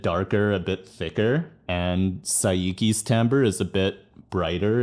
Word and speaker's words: Saiki: It's Saiki, right? It's not Seiki, I know that much, because that would be S-E-I, right? Like Seiko, like the watch brand. Sorry if I'm butchering the pronunciation, but I'm gonna go with my gut. I think it's Saiki.